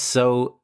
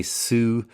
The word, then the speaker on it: sew: The first sew is spelled s o, and the second one is spelled s e w. And the second one is very often mispronounced by English learners. People usually say sue, the same way you would pronounce few or